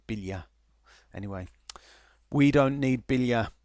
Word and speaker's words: Biglia: Bila I mean it's it's spelled biglia but I think they pronounce it Bila anyway we don't need